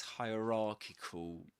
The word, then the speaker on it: hierarchical: It's pronounced just like hierarchy, but at the end we changed, instead of saying hierarchy, we say hierarchical. Hierarchical. And let me share with you another pronunciation of this word. Hierarchic. Okay, so we say hierarchical, hierarchical. So the main difference between the word hierarchy and this one, hierarchical, is that the main stress goes on rarchical, ra.